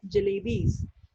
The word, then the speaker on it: jalebis: a rupee's worth of jalebis. So jalebis, what is the meaning of jalebis? It's a sweet in a shape of coil. And the jalebis is a word that has 3 syllables.